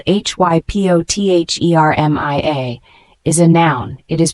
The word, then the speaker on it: hypothermia: low blood sugar levels the word hypothermia spelled h y p o t h e r m i a is a noun it is pronounced hypothermia this word means dangerously low body